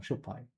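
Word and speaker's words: しょっぱい: It's shupai. That's why it doesn't mean salty. Okay. I just said it wrong. Shopai, not shupai.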